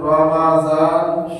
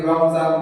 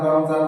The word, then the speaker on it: রমজান: যেমন আমরা অনেক সময় বলে থাকি রমজান রমজান মাস রমজান মাস এই যে রমজান রমজান শব্দ বলি এই শব্দটি হচ্ছে মূল উচ্চারণ ভুল শব্দ সঠিক উচ্চারণ হচ্ছে রমাজান মিমের মধ্যে জজম না জবর লাগাইতে হবে রমাজান এই শব্দটি হল সঠিক শব্দ।